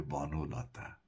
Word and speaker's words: বনলতা: তার মানে এই যে মন, বন, এগুলো যখন অন্য শব্দের সঙ্গে যুক্ত হয়, তখন ওই শব্দের প্রথম অয়ের উচ্চারণ অকারান্তই থাকে, ওকারান্ত হয় না।